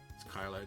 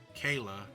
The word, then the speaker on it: Kyla: Kayla. Kayla, Kyla. Kayla. It's Kayla, Kyla. You said Kayla. It's Kyla. Kayla. So is it? So it's Kyla, not Kayla.